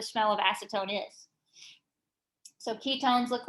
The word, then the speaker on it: ketone: of acetone is so ketones look like this um and the name ending is o-n-e but you pronounce it o-w-n own okay but it's spelled